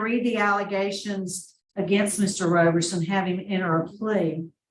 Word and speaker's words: Roberson: us your name in Doc number one it's pronounced your name Mr Roberson Mr Roberson here for a revocation decision this